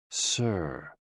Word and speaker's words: Si: SI, pronounced like sir, with a slow exhale, which is associated with the lungs.